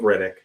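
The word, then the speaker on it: Rittich: Well, Riddage or Riddick. I've always forgot. It's It's pronounced like Chronicles of Riddick.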